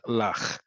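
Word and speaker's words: לח: D.C., is the word lach. Lach with a chet at the end, very important that it's spelled with a chet.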